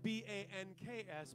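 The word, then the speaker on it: Bencs: it is karen banks birthday b-e-n-c-s not b-a-n-k-s pronounced like a european karen karen banks mike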